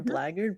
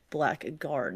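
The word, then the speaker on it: blackguard: it, I probably I probably heard the term blard, but I never really often hear or no I haven't often seen the word itself to connect it to its pronunciation. So that that's probably why I would have thought black a guard instead of blard.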